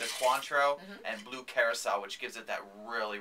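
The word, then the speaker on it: Curaçao: and blue curacao, which gives it that really, really pretty blue color.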